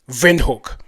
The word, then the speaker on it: Windhoek: Windhoek with a V, Windhoek. So he talks that the email mentions that the pronunciation of Windhoek with a V is not just German, it is Afrikaans.